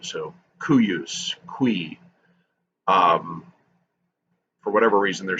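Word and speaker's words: cuius: And the C's, they're sort of like pronounced like a Q. So cuyus, qui.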